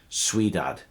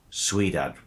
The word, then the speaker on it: Ciudad: de Barcelona, or perhaps Ciudad. My Spanish is not great, I'm trying to learn how to pronounce all of these words properly. I think it should be Ciudad with Z for Zulu sound.